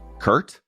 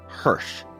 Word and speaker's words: Hersh: and a ready grin I started saying my name is hirh still the Barista would say Kurt this time I would actually correct them no hsh it is spelled h e r s h by now many people